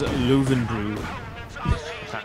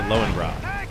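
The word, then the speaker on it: Löwenbräu: In America, everybody just calls it Lowenbrow. That's our way to slaughter the pronunciation.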